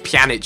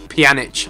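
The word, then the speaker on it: Pjanić: It's Pjanic, I think. So, you say it like Vidic. Pjanic, I think it's like that.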